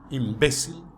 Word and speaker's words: imbécil: Vejamos: democracia, cerebro, imbécil, imã, álcool, alguien, alergia, cráter, elogio, academia, atmósfera, fútbol, gaucho, límite, oxígeno, régimen. Viu que a sílaba tônica é diferente de como se pronunciaria essa palavra em português?